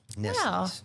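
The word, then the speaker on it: Nestlé: It's Nestle. Nestle. Yes. The more you know. Little bit different. That's the way they do it on TV. So, I'm assuming that's the way they pronounce it.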